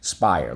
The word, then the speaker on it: spire: S-P-I-R. Silent E. Spire. How do we mark this up? Underline the I and the silent E twice. Draw an arrow back. Why? You got it. Because in this case, the silent E makes the I say I. So the next one we